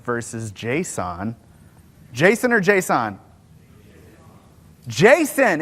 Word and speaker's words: JSON: Jason, it's Jason. Who said JSON? The A is implied.